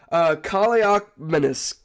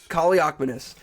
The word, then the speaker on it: Kaliakmanis: Because with the 7th round pick number 280, whatever, we have, hold on, let me get the pronunciation out. Ethan, Kaliakmanis. Kaliakmanis.